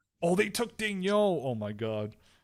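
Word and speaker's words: Daigneault: I think in French it's Dejano. No, it's Daniel.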